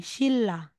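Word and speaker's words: 신라: po siya ng bigkas so halimbawa Ito po shinra ' ba po shinra kaso si Shin ay may end na neon tapos followed siya ni real so as nasasabi sabihin mong shinra magiging shilla shilla okay another po if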